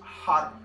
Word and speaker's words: Har: sorry I got distracted we're gonna chant har spelled har pronounced hot rolling the are on the tip of the tongue on the top of the roof of the mouth as we do this